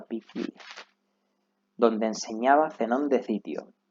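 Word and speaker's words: Poikile: Bueno, nos explica que toma su nombre de un pórtico llamado Stoa Piquile, pero se pronuncia Piquile, donde enseñaba Zenón de Citio.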